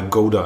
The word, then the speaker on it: Gouda: So I asked them, I want to buy a Gouda, and they was like, what?